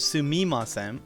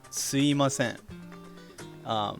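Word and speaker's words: すみません: changed into something called, instead of sumimasen, it can become sui, like i, suimasen. So, but make sure that you don't type it that way, because in text it's still pronounced and like written as sumimasen.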